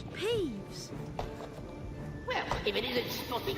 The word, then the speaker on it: Peeves: It's peeps. Hello peeves. No, it's peeves.